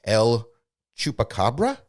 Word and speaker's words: El Chupacabra: this incorrectly last time i didn't pronounce it the way you guys like it to be pronounced el chupacabra is how i'm going to say it this time is speculated to be